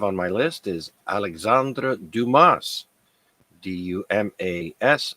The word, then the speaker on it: Dumas: my list is Alexandra Dumas duas I don't think the S is pronounced or it's uh pronounced